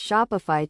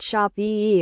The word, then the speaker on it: Shopify: to form the word shopify. The correct pronunciation is shop fee with a slight emphasis on the first syllable. It is essential to note that the pronunciation is not shop e or shop iie but rather shopify fee.